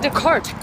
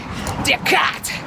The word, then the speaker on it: Descartes: When Descartes, actually it's pronounced Descartes, when he came onto